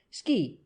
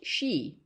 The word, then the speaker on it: Ski: "Yes'm, Ski, Elmer Ski. No'm, not pronounced she.